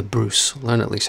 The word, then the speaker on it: Bruce: family by the way it's not the bruss is the bruce learn at least how